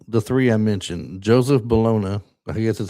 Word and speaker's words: Bologna: And and the cast other than the three I mentioned, Joseph Bologna, I guess that's how you say his name in it or is it Joseph Baloney? No, it is Bologna.